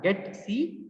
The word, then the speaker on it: getc: These are pronounced as get C and put C.